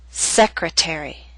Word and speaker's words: secretary: a true t attack appetizer and secretary are longer words they have both primary and secondary stress primary stress is at the beginning of these words but the T still falls on a stressed syllable it's secondary stress a little weaker but still stressed that's why it's still a true tea and we say appetizer